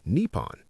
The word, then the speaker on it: Nippon: Japan is actually Nepon. But it went Chinese pronunciation to Malay to Portuguese to English.